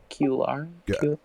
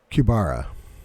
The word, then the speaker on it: Kubara: How do you say Kular? Kubara. Kabara. Oh, that's a B. Yeah. Yeah. Kubara.